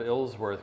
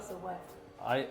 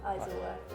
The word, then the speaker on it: Isleworth: driver had trouble with my pronunciation of Ilsworth. Could you tell me how you pronounce that? Isleworth. Isleworth? Yeah, Isleworth.